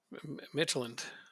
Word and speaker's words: Midtjylland: uh, Midtjylland.